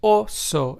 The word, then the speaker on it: oso: So, remember, it's more like O in Spanish. So, therefore, the Spanish word oso, which means bear in Spanish, is pronounced as oso and not oso.